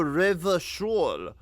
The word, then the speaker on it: Revachol: Oh, Revachol.